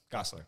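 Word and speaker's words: Gosselaar: Gosler. Okay. Yeah. So it's easier to say than it looks.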